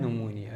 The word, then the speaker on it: pneumonia: जो है वो है निमोनिया निमोनिया जो होता है ये पी से स्टार्ट होता है और पी साइलेंट होता है तो ये भी